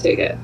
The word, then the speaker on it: TICCIT: design a toolkit for ticcit pronounced ticket also known as trees